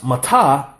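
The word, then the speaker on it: מַטָּה: When it's pronounced matah, it can mean down.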